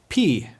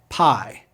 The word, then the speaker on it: pi: say it with me Omron o Omron o p this one's easy to remember because we have a mathematical symbol pi but don't pronounce it as Pi it's p now say